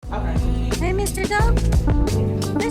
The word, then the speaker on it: DXPE: Pronounced dope spells DX Pes into sound to to create stories and and ambiances that are both empathetic and cinematic.